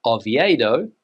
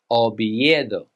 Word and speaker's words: Oviedo: This city is not Oviedo. In Spanish, you would say Oviedo.